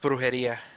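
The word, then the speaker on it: brujería: It's pronounced brujeria.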